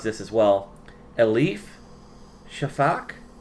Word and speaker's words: Elif Shafak: And then this year's is probably going to mispronounce this as well. Elif Shafak. Elif Shafak.